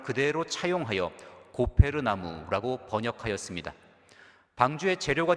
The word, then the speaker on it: 고페르: 따라서 여러 영어 성경과 개역 개정판 성경에서는 히브리어 성경의 발음을 그대로 차용하여 고페르 나무라고 번역하였습니다.